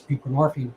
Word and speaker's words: buprenorphine: a narcotic itself it's buprenorphine rhymes with morphine out to the um